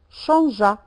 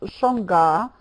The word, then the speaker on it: changea: Changea. Comment on prononce donc changea? Remarquez le verbe changer, on ajoute un E pour... Sinon, on prononcerait changa. Il faut mettre le E.